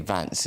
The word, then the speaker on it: Vance: I think you have to say Vance is the right way to pronounce it. As opposed to Vance.